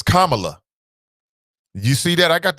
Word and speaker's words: Kamala: Not Kamala. What was she? Not Kamala. It's Kamala.